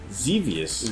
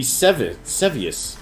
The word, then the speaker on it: Xevious: There's no Z. That's an X. XEV. It'd be Sevius. Look, this isn't reading Rainbow Sevius? Gatsby. I'm gonna go with Sevius. Zevius? That's my new pronunciation for this game.